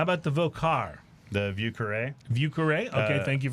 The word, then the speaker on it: Vieux Carré: So, pronounce it for me again. Vieux Carré. Vieux Carré.